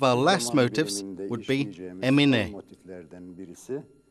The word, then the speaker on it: emine: last motifs would be emine. Emine is a motif that is pronounced in three parts, in the duration of hey.